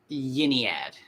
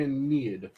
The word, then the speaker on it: Aeneid: I believe it's pronounced Yiniad, isn't it? I've heard mainly Aeneid.